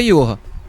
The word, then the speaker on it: Johan: A pronúncia é Johan.